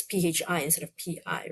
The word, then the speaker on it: phi: Phi, I think is pronounced phi, not pi, because pi is just pi.